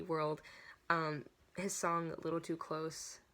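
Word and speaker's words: WRLD: part of Monster Cat World, so World spelled without a W, W-R-L-D, World.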